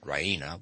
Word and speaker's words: Raina: of good news ryna she pronounces it ryna with the stress on the e raina she goes to the